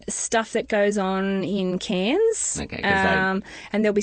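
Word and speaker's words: Cairns: And you guys would probably pronounce it Kairens because there is actually an R in there. So in Australia, the accent with the accent, we say cans, like cans of tomato soup.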